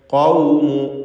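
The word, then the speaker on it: قوم: കദ്ദബത് ഖൗമു, ഖാഫിന് പൂർണ്ണമായ തഫ്ഖീം കൊടുക്കണം. ഇസ്തിഅലാഇൻ്റെ ഹർഫാണ്.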